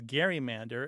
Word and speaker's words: gerrymander: One of the ways that we know that it was pronounced as Gary-mander is because a few